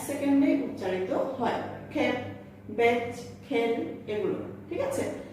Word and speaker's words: খেপা: তাহলে খেপ ধাতুর সঙ্গে আ প্রত্যয় যুক্ত হয়ে গঠিত হয়েছে খেপা শব্দটি, সেই কারণে এই খেপা শব্দের একারের মতো উচ্চারিত হবে, খেপা।